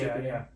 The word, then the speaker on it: Shippuden: went from, you know, just normal Naruto to Shippuden, right? Did I pronounce that right? Yeah, Shippuden.